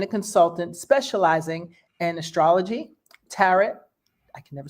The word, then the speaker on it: tarot: He's a dedicated teacher and a consultant specializing in astrology, tarot. I can never say it right. Tarot. Tarot's like carrot. Tarot.